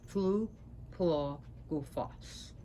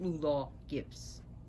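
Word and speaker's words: Lleu Llaw Gyffes: Yes, pronounced Tulu Tula Gufas, not Lula Gibbs.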